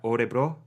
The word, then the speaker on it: Örebro: just below Stockholm, sort of, God, I always pronounce this wrong, but like Örebro. Is that right? Örebro.